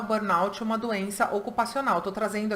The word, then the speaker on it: burnout: falando sobre síndrome de burnout. Inclusive, para quem ficar na dúvida, a pronúncia é essa, tá?